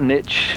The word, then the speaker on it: N1TCH: Yeah, I'm at Niche, which is spelled N1TCH, and I have a Twitch channel which I'll be streaming on later, just playing the game as well.